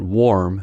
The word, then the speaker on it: warm: The key is to know that warm has o sound and worm has a sound.